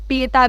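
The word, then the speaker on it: Pietà: अब उसके अलावा फेमस कल्चर्स आप देखो, आ गया ना, पीटा से आ गया आपका, पीता भी बोलते हैं इसको, ठीक है।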